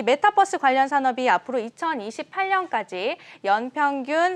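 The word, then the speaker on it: metaverse: 이 메타버스가 영어로 메타버스, 유니버스라서 메타버스인데 네. 아재분들이 많이 메타버스라고 읽더라고요. 버스가 아닌데. 아, 제가 아재인가요? 메타버스 아니고 메타버스입니다.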